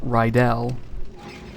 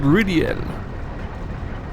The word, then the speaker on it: Rydell: So his name is Rydell. When you meet him, the voice actor goes, "I am Lord Ridiel."